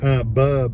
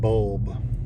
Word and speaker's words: bulb: So, bub instead of bulb.